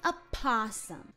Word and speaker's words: opossum: another day being an opossum and for everyone in the comments telling me that i'm pronouncing possum wrong um i'm not the o is not silent it can be both are correct i'm an opossum trust